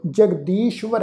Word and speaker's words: जगदीश्वर: ससे पैर बिंदी नाल तुसी देखो अद्धा वावा व्यंजन। साध संगत इसका पाठ उच्चारण करांगे जगदीश्वर है।